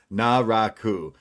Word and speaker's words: Naraku: So now we know it's Naraku. Uh so there there you have it. Uh Lince Dorado versus Naraku and Lince has evades him with some like back flips and then a springboard crossbody.